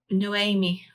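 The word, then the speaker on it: Noemí: Noemi. Oh, it's like Naomi. So it's a different version of Naomi. So it's Naomi.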